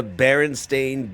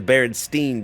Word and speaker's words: Berenstain: The Berenstein Bears didn't exist. It was always the Berenstain Bears. The Berenstain, right? The lovable cartoon bear family actually spelled with an A, not an E.